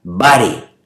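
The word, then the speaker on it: βάρη: Y esa palabra cargas es una palabra en griego que se escribe o se pronuncia vare, y que significa carga pesada y agobiante.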